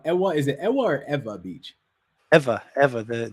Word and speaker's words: Ewa: is it wherever beach ever ever the the w is pronounced like a v oh that's what's up